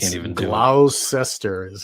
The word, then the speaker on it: Gloucester: Gloucester is how it's spelled, but it's Worcester.